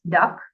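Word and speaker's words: DUKW: UK these amphibious trucks known as duw pronounced duck the originally designed as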